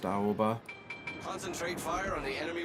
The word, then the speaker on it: Aoba: The Aoba, as I used to pronounce it. I think it's more properly pronounced Aoba.